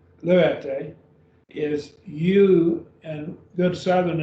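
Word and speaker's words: λύετε: Now then we have lu, et, three syllables, lu et. So we'd have lu et, luete, is you, and good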